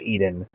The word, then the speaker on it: Aden: Marines would land on the shores of Yemen, coming off of boats from the Gulf of Aden, or Aden, depending on how you pronounce it.